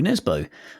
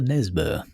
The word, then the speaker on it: Nesbø: interview with Joe Nesbø, or as we were told recently by a listener, he's actually pronounced, I think, Nesbø. Right. Or something like that. Yeah, when he was playing for Tottenham, that wasn't how anyone used to pronounce his name. Yeah. I was going to say, it just sounds like he's a Geordie when you say it like that.